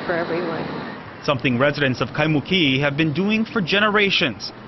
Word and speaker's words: Kaimuki: I say Kaimuki, but Paula says it a little different. A little Kaimuki, the Imu, the tea leaf imu is what traditionally the Hawaiians have for that area.